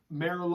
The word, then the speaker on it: Merlaud: and her husband Serge Merrill oh no it's not spelled the same way as the wine Merlot but it's pronounced the same way it's Emmy RL AUD